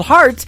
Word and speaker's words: Hart: good friend Robbie Hart it is HR t on her last name and that is called heart in two places yeah I just like your heart that how that's spelled and uh she is actually